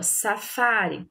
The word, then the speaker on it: safari: Nós vimos aqui, ó, safari, sílaba tônica, fá, penúltima, né?